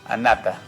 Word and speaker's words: Anata: bien excelente febrero Anata como se escribe se lo pronuncia Anata Anata Anata una vez